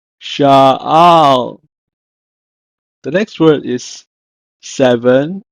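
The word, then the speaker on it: שאל: In Hebrew, is pronounced as sha'al, sha'al.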